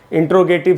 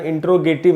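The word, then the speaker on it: interrogative: हैं लोग generally grammar में टॉपिक आता है इंटेरोगेटिव सेंटेंस ऐसे करके हम बोलते हैं लेकिन दोस्तों आपको जानकर हैरानी होगी कि इसका उच्चारण इंटेरोगेटिव नहीं होता है वह मैं आपको इसका है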